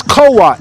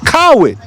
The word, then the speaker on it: Cowart: __ ] on me my last name is co-op people pronounce it coward but because i didn't